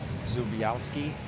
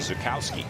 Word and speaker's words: Zukowski: 24 year old Canadian Nicholas zubiowski I believe is how you pronounce his name Zukowski Zukowski yeah this is a guy